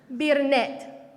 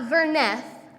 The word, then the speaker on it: Birnet: Birnet. Not Verneth, which is how we might think it's said, but she's named Birnet.